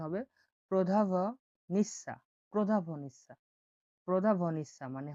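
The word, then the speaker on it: prodavnica: বলা হয় প্রদা প্রদা প্রদা ভ ভটা উচ্চারণ হবে প্রধাভ নিঃসা প্রধাভ নিঃসা প্রধাভ নিঃসা মানে হলো দোকান।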